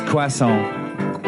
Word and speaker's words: croissant: And also the way that American people pronounce croissant.